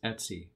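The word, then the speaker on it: /etc: Etsy directory right here I know it says etc' and the Linux community we have a fixation for saying things in strange ways so we pronounce this Etsy other folders here on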